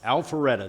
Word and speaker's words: Alpharetta: Alpharetta, the city of Alpharetta, to visit a co-working space called Thrive.